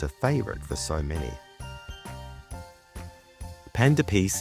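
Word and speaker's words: pain d'épices: favorite for so many panda pce is spelled pan Which is p a i n which means bread in French and toce spelled D apostrophe EP p i c s which in French means spice it can also be called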